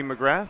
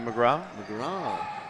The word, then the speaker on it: McGrath: if this was uh the mainland Canada would probably be McGrath but in Newfoundland it's definitely a McGraw I'll stand corrected anyone